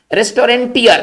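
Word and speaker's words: restaurateur: रेस्टोरेंटियर, देखिए ये टीयर जो होता है ना ये चलाने वाला होगा, लेकिन उसके स्पेलिंग में है ना एन नहीं होना चाहिए। यहां पर एन का एकदम मतलब एन को माइनस कीजिए। तो इसका जो सही हम क्या पढ़ेंगे इसको? रेस्टोरेटियर।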